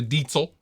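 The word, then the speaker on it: Diezel: So I'm just going into the clean channel of the Diesel, as it's pronounced.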